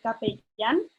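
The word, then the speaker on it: capellán: the the chaplain um and and you say cape yen remember the double l is pronounced as a so it's um maybe they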